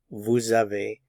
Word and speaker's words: avez: Notice the S is not pronounced, tu as. He has, il a, she has, elle a. One has, we have, on a. We have, nous avons. You have, vous avez.